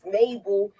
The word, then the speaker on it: Mabel: I don't like the way you say her name. You say her name like you saying naval. Like she's a naval ship.